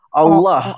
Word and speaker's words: Allah: Walaupun tertulisnya alif lam lam ha menggunakan apa namanya, menggunakan vokal A ya, tapi dia tidak dibaca akhirnya vokal A, tapi vokalnya lebih ke o ah Allah.